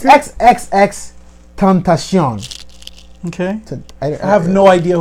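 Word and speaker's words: XXXTentacion: It's XXX Tentacion.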